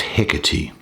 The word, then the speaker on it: Hecate: Now, this is the Greek goddess Hecate, spelt Hecate, but pronounced Hecate.